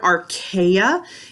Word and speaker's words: archaea: if we think about the word archaea it kind of sounds like the word archaic which means old so